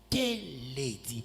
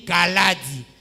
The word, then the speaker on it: Kalady: bien j'étais fâché pourquoi parce qu'il a dit k dit au lieu de dire calad il a dit k dit pour ça j'ai dit tu as déformé mon nom j'aimais beaucoup mon nom